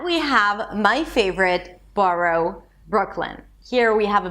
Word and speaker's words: Brooklyn: And then from the K sound that is in the back of your throat. You move to the L immediately. Brooklyn. You don't release the K. It's not Brooklyn. Brooklyn. You release it into the L.